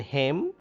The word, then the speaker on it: hymn: In hymn, N is silent.